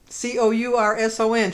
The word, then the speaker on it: Courson: Courson. She said to pronounce it like Orson.